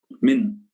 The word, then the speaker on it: Min: Min, just Min, like the minute, right?